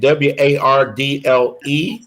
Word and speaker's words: Wardle: And Wardle is how she pronounces her last name.